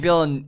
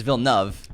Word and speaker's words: Denis Villeneuve: We said it wrong for about a year and a half. We were saying Villeneuve. It's Villeneuve.